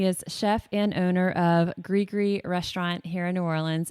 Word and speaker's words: Gris: Orleans, tell us what Gris means and spell it for us. It's one of my most asked questions every day here at the restaurant. But it is Gris. It's Gris.